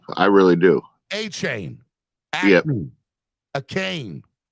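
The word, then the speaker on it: Achiuwa: A cane. It's A-Chain. I've heard 3 different pronunciations of his last name.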